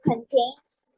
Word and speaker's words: contents: These are the contents. I have to read these 4 stories about that. Okay. The contents. Contents. You put the most stress on the first syllable.